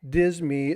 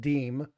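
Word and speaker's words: disme: dime now not the dism as people call which is actually pronounced deem um a lot of people get that wrong but it they it depends on who you talk to yeah dis me but it's actually the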